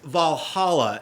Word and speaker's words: VA-11 Hall-A: But it's pronounced Valhalla. At least I think so, and I think the community because I've heard it references that.